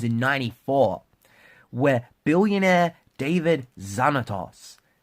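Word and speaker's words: Xanatos: 94 where billionaire david zanatos listen to his last name zanatos and it's spelled with an x so you know that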